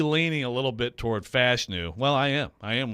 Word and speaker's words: Fashanu: It's not Fashanu, it's Fashanu. Fashanu.